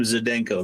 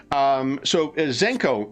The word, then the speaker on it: Zdenko: I'm going to say the D is silent. Just to screw everybody up, because we've been calling him Zdenko the whole time. Nice. So here's what I assume. When these pre-gens were put together, Zenko is from one of